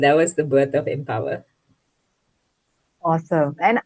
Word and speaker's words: Empowher: W H E R so it's empower um play on words there uh because I I